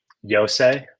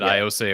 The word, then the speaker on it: Iose: youngest of the epines how do you actually pronounce the young man's first name yose yose okay I think I said iOS at one point and somebody corrected me to have yose there I think helped